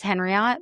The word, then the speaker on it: Henriot: It's Henriot but I tell everybody it's like Marriott.